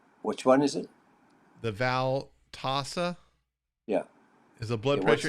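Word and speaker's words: Veltassa: The Valtasa.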